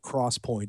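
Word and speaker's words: XPoint: about it so I should also call them Cross Point and not Point uh because I but they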